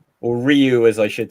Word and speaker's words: Ryu: Or Ryu as I should say. Do you know what? Damn. That original Street Fighter Vang Dam movie, the character goes Rayu.